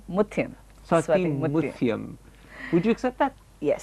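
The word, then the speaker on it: Swathi Muthyam: People often say that perhaps your best performance, and I'm going to mispronounce the name, so correct me, was in Swati Mukhathayam? Mutyam. Swati Mutyam.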